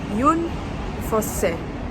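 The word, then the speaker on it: Jon Fosse: The correct pronunciation is Yun Fosse.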